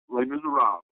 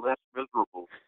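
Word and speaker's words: Les Misérables: Is that how you pronounce it? Les Miserables.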